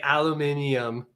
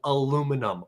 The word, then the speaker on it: aluminum: And you say aluminium. No, aluminum.